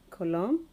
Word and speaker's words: column: him pattern lastly content column Solen him obviously the silent letter there is letter n the pronunciation of all of them doesn't have the letter N but actually n is